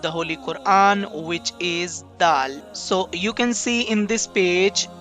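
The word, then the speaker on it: دال: basic letter of the Holy Quran which is DAL so you can see in this page this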